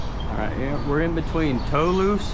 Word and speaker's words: Toulouse: Alright, yeah, we're in between Toulouse Street, that's how I pronounce it. T-O-U-L-O-U-S-E, sounds like Toulouse.